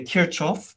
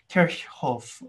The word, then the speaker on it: Kirchhoff: in multiple different ways i might say kirchoff the old wrong pronunciation i used to use i think i have heard people say kirkhof i'm pretty sure that's wrong but anyways i think correct pronunciation here is kirchhoff but whatever so application